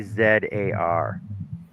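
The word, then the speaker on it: czar: Like we got a town called It is spelled C Z A R. Pronounce that one. Zar.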